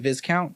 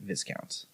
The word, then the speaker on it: viscount: not like I mean we literally have been mispronouncing this word so there's no mystery there so the second part of this is do do we Now Pronounce it vicount do we continue to pronounce it Viscount I think we have